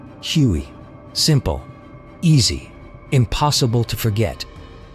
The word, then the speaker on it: Huey: Its nickname came from its original designation, HU-1. Soldiers simply pronounced the letters. Huey.